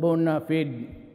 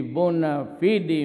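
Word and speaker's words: bona fide: Bona media Bona media sometimes they pronounce it bonafed but whatever the thing is the bua FID media has always been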